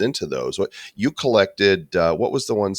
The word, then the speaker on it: Kollect: gamified collection card platform is spelled collect with a k collect duck hearts ethan welcome